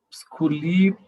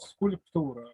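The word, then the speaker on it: скульптура: Sculiptura. Sculiptura. Non, sans I, c'est un signe comme sculpture, sculptura. Sculptura.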